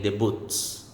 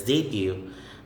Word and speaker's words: debut: debut silente it's debut i can still hear some people say the boots okay so as let me encourage you that it's debut next is mortgage mortgage